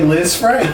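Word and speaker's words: Lisfranc: it yes it's but it's spelled l i s f r a n c oh okay but it's still they say Liz Frank Liz Frank he will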